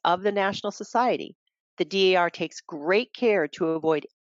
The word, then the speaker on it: DAR: national bylaws oh and always pronounce each letter d a r don't take a shortcut and call it dar number two we are